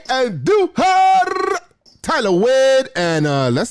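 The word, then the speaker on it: Andújar: Roll your R's when you say Andujar.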